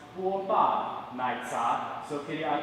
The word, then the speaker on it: 波霸奶茶: It's pronounced 波霸奶茶.